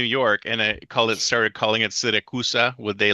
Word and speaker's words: Siracusa: Siracusa?